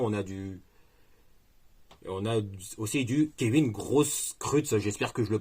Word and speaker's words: Grosskreutz: On a aussi du Kevin Grosskreutz. J'espère que je le prononce bien aussi. Hein. Enfin, désolé de la excusez-moi hein, si j'ai mal prononcé, mais ça se dit Grosskreutz. Grosskreutz.